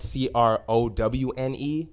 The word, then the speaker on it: Crowne: It's a Crown Sports Bar and Grill, excuse me, and it's spelled CROWNE as in Crown.